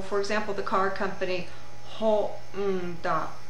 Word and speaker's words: Honda: So for example, the car company Honda, Honda, Honda. It gets a syllabic beat of its own.